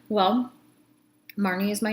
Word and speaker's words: Marnie: Well, Marnie is my name that I was given. I know. I was given the nickname name. So, hi, my name's Marnie. Margie? Marley? Marty? No, it's Marnie.